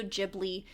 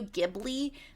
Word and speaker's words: Ghibli: anyway uh Ghibli Studio Ghibli to my understanding both are allowed pronunciations like there's not a very one specific one for the sake of myself I'm gonna stay I'm gonna say Studio Ghibli because Ghibli is gonna